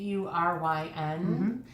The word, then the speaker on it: Auryn: Thank you for pronouncing it for me. That's Auryn.